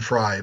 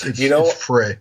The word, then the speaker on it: Frey: You're thinking of Glenn Frye, but it's Frey. You know what? Frey.